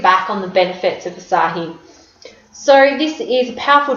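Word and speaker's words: açaí: So it looks like it's spelled acai, which is what I used to think it was, but it's actually asahi. So it sounds a bit Japanese.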